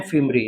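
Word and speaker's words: fimbriae: इन्हें कहते हैं हम लोग फिम्ब्री, हिंदी में भी उच्चारण लिख देते हैं, इन्हें कहते हैं फिम्ब्री, ऐसे पढ़िएगा, दिस इज फिम्ब्री, ठीक है।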